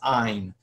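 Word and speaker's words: ayin: So the one we need to worry about tonight is ain. So uh which is silent when you read Hebrew today actually had a very soft guttural sound a little bit like an H.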